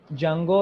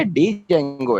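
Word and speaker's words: Django: इनमें से मैं ये आपको जेंगो है या डी जेंगो है? जंगो है, डी जो है वो साइलेंट लफ्ज़ है।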